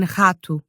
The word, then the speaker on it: rato: And it sounds like r, as in rato. It's produced using the back